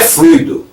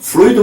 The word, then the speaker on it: fluido: esse dos frutos então a pronúncia correta é fluido viu fluido magnético e também é uma